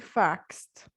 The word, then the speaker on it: faxed: sh, k, ch, then the ed will be pronounced as t. All right. For example, hope plus ed will be pronounced as hoped. Laugh plus ed, laughed. Fax plus ed, faxed.